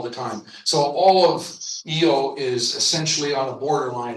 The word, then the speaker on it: Io: Here's uh the moon EO. It's spelled Io, but it's pronounced Eio.